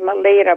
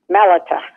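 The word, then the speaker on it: Melita: you don't mind it's I thought it was my leader but I found out from the pronouncing dictionary and also from the first verse of chapter 28 that the emphasis is its mellitah thank you well oh well that changes everything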